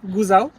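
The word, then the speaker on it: Gosau: ওয়ে আমরা এখন আছি গো সাউথে এখানে উচ্চারণ করা হয় গুজাও এবং এটা হচ্ছে অস্ট্রিয়ার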